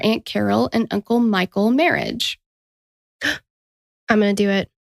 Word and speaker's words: Merhige: you clicked on it it's not spelled like marriage but it's pronounced like marriage and I was like